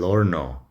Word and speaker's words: horno: And then el horno is an oven. H in Spanish is silent. So el horno. We just pronounce the O at the beginning and the O at the end.